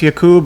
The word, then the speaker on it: Yakub: questions okay right um is your last name pronounced yakub am I saying that right yeah okay do you